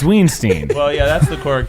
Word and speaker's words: Weinstein: Can we go back to when Miles pronounced it as Harvey Weinstein? It's Weinstein.